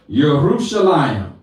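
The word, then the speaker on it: ירושלים: the name of the city of my elohim yerushalayim jerusalem and hebrew is jerusalem but a lot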